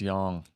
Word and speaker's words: yang: it's pronounced yang. Yeah, it's Didn't know that. yeah, it's Yang. not yang.